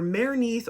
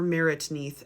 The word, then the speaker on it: Merneith: Now, her name can be pronounced either Merneith or Meritneith, and she lived during the first dynasty around 2960 BCE.